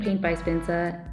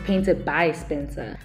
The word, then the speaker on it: PaintedBySpencer: favorite painted by Spencer I kept on saying paint by Spencer and I'm sorry for mispronouncing his handle his name on his YouTube channel YouTube channel it's painted by Spencer we're doing another video